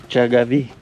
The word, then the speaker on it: Jagavi: Say ja. Ja. Ga. Ga. Vi. Vi. Jagavi. Jagavi.